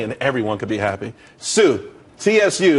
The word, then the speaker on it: Tsu: everyone could be happy Sue CSU it's pronounced Sue though that's a that's